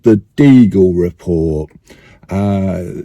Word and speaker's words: Deagel: that's something called the deagle report uh spelled like beagle the dog but with a d for Delta in front and it came out I